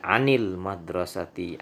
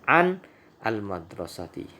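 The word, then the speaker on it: عن المدرسة: Karena kata setelah an, huruf an itu diawali dengan alif lam, sehingga bila kita ingin langsung membacanya maka kita ganti harokat sukun tersebut dengan harokat kasroh atau garis bawah, yang menjadi anil madrasati anil baiti.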